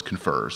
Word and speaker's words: CONFERS: at the first month debating how to pronounce the acronym and the choices were confers or confers and our PM told us no no its confers so it's confers but what we're doing